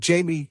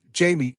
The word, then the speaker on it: Jamie: The J in Jamie here is pronounced with an H sound, as it would be in Spanish. However, both Michael and the detective pronounce Jamie with the J sound.